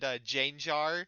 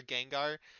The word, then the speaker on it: Gengar: It's like the whole Arcanine thing and Gyarados and Janjar for Gengar. I'm pretty sure they just pronounce these things incorrectly as a bit.